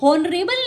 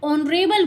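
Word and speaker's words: honourable: जैसे honest, ऑनरेबल या are words हैं, ये स्टार्ट तो एच से हो रहे हैं लेकिन हम इन्हें हॉनेस्ट नहीं बोलते, हॉनरेबल नहीं बोलते, हावर नहीं बोलते, यहाँ पर एच साइलेंट है, हम इसे ऑनेस्ट बोलते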